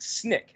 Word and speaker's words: SNCC: student non-violent coordinating committee sncc pronounced snick sncc it's going to